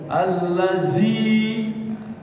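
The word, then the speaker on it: الذي: Hurufnya dza dzi dza. Nah dza. Zu. Iya. Bukan huruf jim. Kalau huruf jim bunyinya alladiai. Nah, itu huruf jim. Ada juga huruf zai. Alladzi beda ya. Jadi alladzi. Nah, ini alladzi ini pakai d buan huruf jim. Allazi. Nah, itu jim. Allazzi itu huruf zai.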